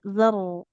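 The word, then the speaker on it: ذَرَّة: Zarrah Zarrah. zarrah karonya tebal Nah, jadi sama coba ini.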